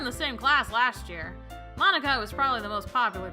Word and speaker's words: Monika: I think that's how you say it, Monika.